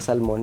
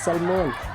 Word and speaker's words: salmon: Kapagka ano, kapagka k ano, nag-uulam ako ngayon ng salmon, naalala ko siya kasi kinulik niya ako. "To, it's not salmon, it's salmon."